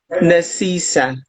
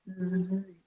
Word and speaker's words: Nzisa: Nasisa? No, Uh, Nzisa. Ni Niza. Niza. No, you pronounce N and Z together. Nzisa.